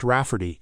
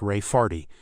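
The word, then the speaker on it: Rayfarte: my niece Ray farte pronounced raffy and not at all like Ray farty my niece has been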